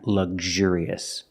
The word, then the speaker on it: luxurious: Let's talk about the sound. Gzh. You're using a hard G sound and the Zh sound, like in measure and treasure, vision and usual.